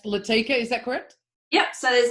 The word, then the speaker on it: Latika: Millionaire came out and the leading that was Latika but pronounced let occur well so it turns